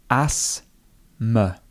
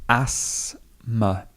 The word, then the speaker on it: asthma: The TH would be silent. It is literally asthma. So the stress goes here. She suffers from asthma.